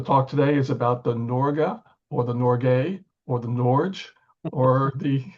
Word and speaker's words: Norge: Um just for clarity, the Nor is the Norwegian pronunciation depending on what source you look at.